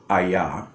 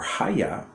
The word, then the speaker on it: HAYAH: handed down this verb ayah for centuries and they've always called it aya or haya but that aya portion